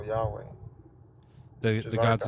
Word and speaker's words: Yahweh: I got the God's name wrong. It's Yahweh. Oh, Yahweh.